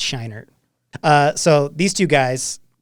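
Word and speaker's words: Scheinert: too we are pretty is it shiner it's not shriner it's shiner uh so these two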